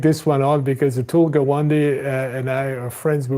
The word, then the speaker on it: Gawande: Gawande, and I hope I pronounced that right.